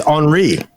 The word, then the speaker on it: Henri: No, Henry. When it's spelled like that, it's Henri. Henri!